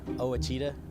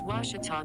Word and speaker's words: Ouachita: tiger baseball after this i've heard people say oh a cheetah oh wish tall oh a cheetah is it pronounced oh aikida searching for washi at a baptist university back in texas everybody pronounces it wichita but really it's ouachita washington towel how would you pronounce it wash it wash it off it's washita baptist university get it right it's